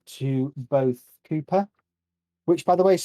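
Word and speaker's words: Kuiper: you an introduction an introductory letter to both cooper which by the way is spelled k-u-i-p-e-r not c-double-o p-e-car for those of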